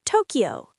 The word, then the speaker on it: 東京: It's one quick syllable, not ki, ya. It's kya, like Tokyo, not Tokyo, it's Tokyo. 東京、東京。 Tokyo, one smooth word.